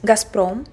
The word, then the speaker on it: Gazprom: Here we pronounce it as Gazprom.